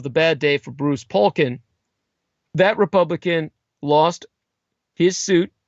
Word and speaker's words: Poliquin: Polkin's surname is spelled Poliquin, Poliquin.